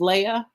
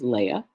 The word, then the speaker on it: Leah: An Aleph with an Ah sound. And then we've got our H here at the end. Her name is Leah. So we would pronounce it Leah in English.